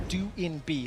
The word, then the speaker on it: DoinB: And just as a very quick update, we have received updated information as how to correctly pronounce DoinB. His nickname is how we used to say it. It is DoinB, so we'll be referencing it that way going forward.